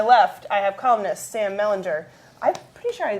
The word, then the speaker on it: Mellinger: He always said Mellinger. Is Mellinger? Hard G. Hard G. Mellinger.